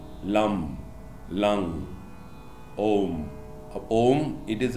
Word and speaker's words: Om: It is not ом, ом. Там нету звука м, как записывают обычно двумя буквами о и м.